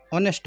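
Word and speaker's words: honest: ही इज़, अब आप इस सेंटेंस को बनाओ, ही इज़ ऑनेस्ट बॉय। ऑनेस्ट ओ है और ओ से पहले एच है, इसलिए एच को बोला ही नहीं है हमने, तो एच को नहीं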